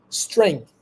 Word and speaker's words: strength: a little comp complicated but here it is strength strength strength strength strength you don't need to say the you don't need to pronounce the uh like with uh mostly speaking